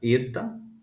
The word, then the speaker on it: eta: Então oil ele tem um som de e o eta tem um som de e sempre e ele no caso